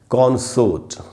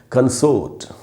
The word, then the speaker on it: consort: पर बता दूँ कि ये वर्ड जब नाउन की तरह यूज़ होगा तो इसका उच्चारण होता है कॉन्सोर्ट, और यही वर्ड जब वर्ब की तरह यूज़ होता है तो इसका उच्चारण हो जाता है कंसोर्ट।